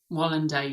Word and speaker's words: Wallander: and Bone peripheral young Wallander is that you pronounce it Wallander Wallander yeah wer yeah um MBA with Lawrence Fishburn